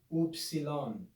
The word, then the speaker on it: upsilon: a vertical line looks like an uppercase y oopsilon oopsilon the lowercase form can be written just